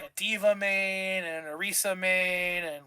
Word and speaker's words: Orisa: And I became like a D.Va main and a Orisa main, and like I was a tank main. Not Risa. What? Not Risa. Orisa?